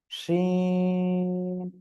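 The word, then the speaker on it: شين: শিন, শা শা শব্দ করে এটা উচ্চারণ করব, সবাই বলেন তো।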